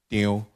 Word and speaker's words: Teo: Teo is a Hokkien dialect, which pronounced in Teo.